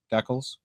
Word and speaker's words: decal: By the way, for those listening, I am from Canada. We pronounce it decals. They do that. So it's in the Collins Harper Dictionary as the Canadian pronunciation.